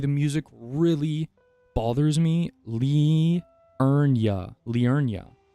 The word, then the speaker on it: Liurnia: What do you mean I'm saying it wrong? It's Liurnia. Liurnia. I just want to say Lunaria. It's not Lunaria at all, but that sounds way cooler.